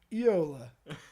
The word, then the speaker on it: Juola: You know how the Finnish pronounce it? Yola.